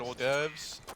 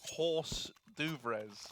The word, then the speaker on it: hors d'oeuvres: Also, I do have an issue with the word hors d'oeuvres. It looks like it should be pronounced horse d'oeuvres.